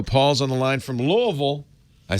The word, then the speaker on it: Louisville: Paul's on the line from Louisville. I said it right, Paul? Louisville, Kentucky. Well, actually, it's Louisville. But, you like Louisville? Okay. Because we were named after King Louis VI.